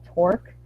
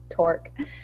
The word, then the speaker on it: Torque: And we had a library that we'd written that was open source called Torque, T-O-R-Q-U-E. I only spell it because I didn't put it on the screen.